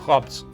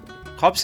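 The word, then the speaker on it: خبز: Khobz is a generic term for bread in Arabic. It's actually pronounced khubz in the Middle East, but the version I'm making here is Maghrebi, and more specifically Moroccan.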